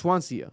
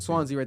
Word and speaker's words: Swansea: Or is it Swansia? How do you pronounce it? Is it Swansea? Swansea. Swansia. Swansea. The A is silent.